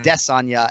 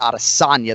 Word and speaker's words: Adesanya: heard it most recently he's emphasizing that second syllable on death Sonia and not out of Sonia the third one so rest assured we